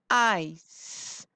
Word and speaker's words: ice: When C comes before E, I, or Y, we hear the sound S. I. S. Ice.